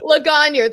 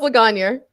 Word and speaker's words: Lagagnier: Lagagnier. The second G is silent, like in lasagna. So it's Lagagnier. Lagagnier.